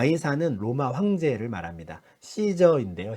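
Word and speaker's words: Caesar: 이사는 로마 황제를 말합니다 씨저 인데요 시저의 영어 스펠링을 이제 아마 그냥 이렇게 발음이 되는 대로 예전에 번역을 하다보니 가이사 라고 번역을 한 것 같은데요 이 사람이 로마 황제에게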